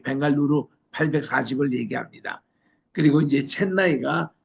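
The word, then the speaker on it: Bengaluru: 옛날에는 영어로 발음은 벵갈로인데 현지 발음은 벵갈루루입니다.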